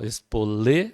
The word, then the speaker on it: espoleta: Espoleta, mesmo caso, ó, espolê, a sílaba forte é o lê, paroxítona, e terminada em A, então não é acentuado.